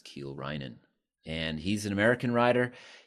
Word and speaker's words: Kiel Reijnen: Ke Rhinan. That's the correct pronunciation. Kind of looks like Kyle Ren, but it's Keel Ren.